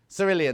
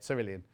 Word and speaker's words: cerulean: Cerulean. That's how you say it. Cerulean.